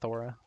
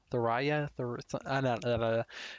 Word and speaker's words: Thoraya: I know her name is like Thora or something. Not Thora. Thoraya.